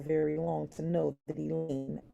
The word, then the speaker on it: Elaine: I may be a timer, but you don't have to be at our school very long to know that Elaine rhymes with pain.